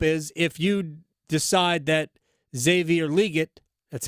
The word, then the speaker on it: Xavier Legette: So, but what I would hope is if you decide that Xavier Legette, that's how you pronounce his name, we have that breaking news.